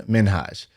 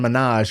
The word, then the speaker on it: Minhaj: I think his name is actually pronounced Hassan Minhaj. And Hassan? everybody calls him Hassan Minaj because it sounds awesome and it's like Nicki Minaj.